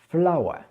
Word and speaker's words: flower: la fleur, en anglais, ça se prononce flower. Flower. D'accord? Alors, ici, c'est intéressant puisque la fin du mot, il y a plusieurs lettres, mais ça se condense finalement en un seul son.